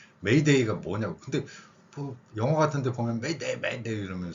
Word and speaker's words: m'aider: 수가 있는데 그거 말고요 위에 표기한 저 발음을 프랑스어에서는 어떻게 발음이 대충 되냐면 프랑스어 설명하는 시간 아니니까요 메 메데 이렇게 됩니다 프랑스어의 알 발음은 우리말에